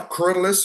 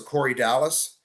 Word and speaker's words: Corydalis: Now, Corydalis or Corydalis, however you want to pronounce it, is another tuberous species, Ledebouriana.